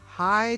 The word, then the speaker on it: Hye: I'm Seth Koppel, your Big Lot Texas Realtor, and this large acreage ranch, we are located in High, Texas, which is spelled H-Y-E, High, Texas, and we are right in between Johnson City and Fredericksburg, right in the heart of the Texas Hill Country.